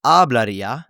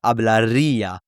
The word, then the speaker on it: hablaría: It's not hablaría, but it's hablaría. And the stress is on this ia, right?